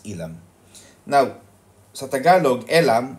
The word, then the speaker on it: Elam: elam entrance but in in English literature we pronounce it as ilam now sa tagalog elam